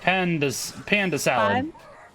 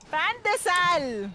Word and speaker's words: pan de sal: Panda salad. No! Not salad! It's bread! Panda It's salad. not salad. Pan de sal!